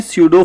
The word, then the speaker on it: pseudo: को ही कहते हैं स्यूडो फोर्स। ये स्पेलिंग PSEUDO है, लेकिन इसमें P साइलेंट है।